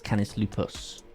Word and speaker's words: Canis lupus: And that's not your pronunciation, like NA and NS. Canis lupus is a scientific name for a wolf. False. It's Canis lupus. Definitely an S at the end.